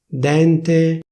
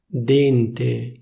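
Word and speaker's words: dente: The pronunciation got completely (beep)! sègno, ségno - ségno mèglio méglio - méglio dènte dénte - dénte studènte studénte - studénte preside...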